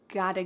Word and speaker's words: gotta: And a quick little pronunciation tip is that in American English, a T that is surrounded by vowels often changes to a D sound.